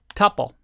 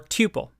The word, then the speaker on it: tuple: And this one is called a tuple or tuple, depending on how you like to pronounce it.